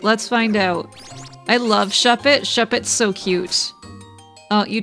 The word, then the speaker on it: Shuppet: don't really need that shed it shop it uh so sh s u p and then pet goodbye glacon my child just